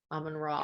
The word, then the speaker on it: Amun-Re: Amun-Ra. Because we found out that the RE is pronounced as Ra in this culture.